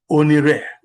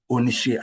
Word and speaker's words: Onishe: So at that time, it was Onire, not Onishe as we pronounce it today. You can see that even the dialectical, you can see the dynamics of the dialectical changes within Asaba community itself, from Re to She.